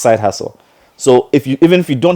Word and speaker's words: SYDEHASSLE: it's SYDEHASSLE, pronounced side hustle.